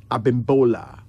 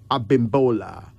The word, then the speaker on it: Abimbola: Finally, Abimbola. Abimbola. A-B-I-M-B-O-L-A.